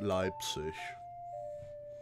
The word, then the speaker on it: Leipzig: Or in German, that'd be pronounced Leipzig.